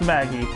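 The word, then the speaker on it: Maggey: how her name sounded oh so it is pronounced Maggie all right but your honor when it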